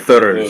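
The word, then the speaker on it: Þurs: Whenever you see a funky thing like Yeah. that looks like a D, but it's got the circle in the Mhm. middle of the line, it's pronounced like a TH. Right. Like Thurs. Thurs.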